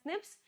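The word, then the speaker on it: SNP: They pronounced as snips.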